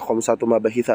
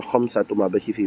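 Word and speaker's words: خمسة مباحث: ambil poin-poinnya lima pembahasan bacanya khamsat mabahit jangan khamsat mabahiti walaupun di susunan idofah kenapa karena mabahitah ini ee sig muntahal Al jumu dari wazan mafa'ilah mutah jumu dari isim-isim ghairu munsarif gitu ya.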